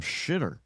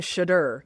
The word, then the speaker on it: Shedeur: are you calling him Shitter? Is that how you pronounce Shedeur. it? It sounds like you're saying shitter. Shit or I'm not saying Sanders? shitter. I'm saying shudder.